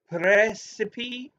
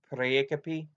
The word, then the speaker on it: praecipe: So these writs, how were they pronounced? Was a praecipe? Praecipe. Praecipe? This seems to be the pronunciation.